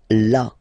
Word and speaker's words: là: So remember you've got this accent, but well you don't pronounce it. Okay, so it's là.